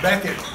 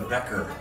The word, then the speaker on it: Beckett: Beckett, with a T. That's right. For 3 years, I was a Becker. Now I'm Beckett.